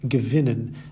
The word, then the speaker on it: gewinnen: You may have noticed that all the words on the left-hand side have their stress on the second half of the word, bekommen, vergessen, besuchen, versuchen, verstehen, gewinnen, and entscheiden. Separable verbs, on the other